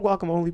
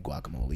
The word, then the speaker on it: guacamole: Hey, do you make your own guacamole, Peter? No, I make my own salsa. Okay, I need someone who, if you make guacamole and your guacamole tastes very similar to the Chipotle guacamole, hit me Is it up.